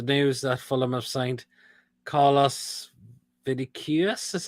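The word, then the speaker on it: Carlos Vinícius: follow there's the news that fulham have signed call us vidiques that's how we pronounce this name from benfica good move for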